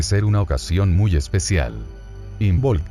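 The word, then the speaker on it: Imbolc: una ocasión muy especial in bolt viene de inbol pronunciado y molge con una vocal ligeramente átona entre la L y la g que significa en el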